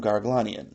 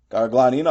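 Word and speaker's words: Garoghlanian: The way to pronounce that name is to say gar paw uglin slight pause Ian.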